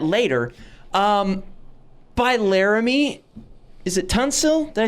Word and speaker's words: Tunsil: Is it Tunsil? Did I say it right? Tunsil?